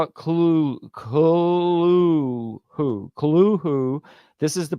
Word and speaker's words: Cthulhu: See how it Cthulhu. This is the pronunciation given by Lovecraft in his correspondence, as mentioned in his selected letters by Arkham Is that House in 1926.